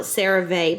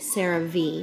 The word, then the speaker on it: CeraVe: some more of my i always call it cerave but i was looking i was watching a commercial the other day and they pronounced it sarah v so i guess sarah v um and so i